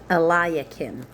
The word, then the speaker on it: Eliakim: Pharaoh Necho made Eliakim, make sure I'm pronouncing that right in a second, Eliakim, Eliakim, that's how you say his name.